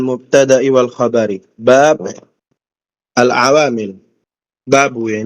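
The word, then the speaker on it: بابُ: Babu ya, ini dibacanya babu.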